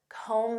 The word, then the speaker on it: comb: Next, comb through. Do you have time to comb through this report? Do you know what this means? To comb through. And notice that B is silent.